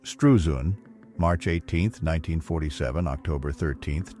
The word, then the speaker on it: Struzan: Drew Strusen, pronounced Strusun, March 18th, 1947 October 13th, 2025, was an American artist, illustrator, and cover designer.